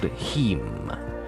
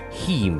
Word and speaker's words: Heme: Hemoglobin has a molecule called Heme. The way you kids spell "meme", the... Heme is spelled it.